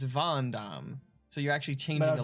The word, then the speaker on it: Van Damme: but the way that you say it the pronunciation would be the same in the case of Jean-Claude Van Damme it's not Gundam it's Van Damme so you're actually changing the letter I just